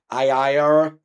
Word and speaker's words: Ariya: How do you pronounce it? Ariya.